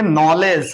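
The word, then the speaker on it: knowledge: दूसरा उदाहरण देख लेंगे नॉलेज के एन ओ डब्लू एल ई डी जी ई इसको क्या पढ़ेंगे नॉलेज इसमें दो और नियम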